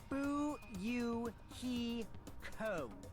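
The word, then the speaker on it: Fuyuhiko: last name is my first name is pronounced boo you he co are you okay i'm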